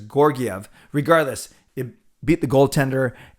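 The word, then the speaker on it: Georgiev: put it behind uh gyorgyov or giorgi i've i've heard it as your gf earlier today but then i think uh john shorthouse was mentioning as hard g says gorgiev regardless it beat the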